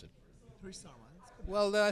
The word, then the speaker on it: Harish Sarma: How would you pronounce it? Harish Sarma.